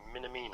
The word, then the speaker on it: Minamino: Minamino. I think that's how you pronounce it.